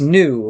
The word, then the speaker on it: nu: NU is just pronounced new, like new metal.